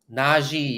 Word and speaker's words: Najee: You gotta love the energy by Najee. That would be my guess is how you say his name. Najee, you're right.